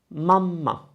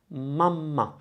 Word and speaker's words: mamma: This one is mamma, mamma. So again, mama, mamma, mamma. You notice there's a difference in the vowel. There's a difference in the a more than there is a difference in the m.